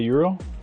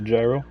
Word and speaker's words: gyro: You've never had a Euro? It's a Greek dish. A gyro? A Euro? It's spelled like gyro. It's Euro though.